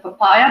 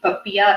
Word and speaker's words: Popiah: you know it's called papia uh it's been going around inside as a big joke because we're not sure if we're pronouncing it correctly some called it papaya but it's definitely popiah apparently yeah so what i